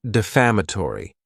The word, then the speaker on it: defamatory: Next is the word defamatory. And this word has five syllables and the stress is on that second syllable.